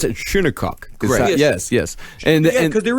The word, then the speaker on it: Shinnecock: it up and I even heard an actual pronounce it shunokuk yes yes and because there is the Shinnecock